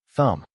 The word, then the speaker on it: thumb: The silent b never appears in IPA because transcription records sounds, not letters.